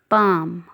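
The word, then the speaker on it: palm: इसमें जो एल है वो साइलेंट है. आपने एल को नहीं पढ़ना. ये इस तरह बन जाएगी पाम. पाम हथेली. एल बिल्कुल साइलेंट है इसमें.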